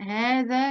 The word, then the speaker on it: هذا: لا، لأن ده قاعدة بتقول إن دي حروف حرف الألف في أسماء الإشارة. هذا وهذه وهذان وهؤلاء حروف تنطق ولا تكتب.